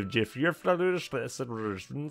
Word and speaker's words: Jyväskylä: He gained a capital and a solid vertical stripe of land from Jyväskylä north to Jyväskylä south. That's how you actually pronounce it, guys.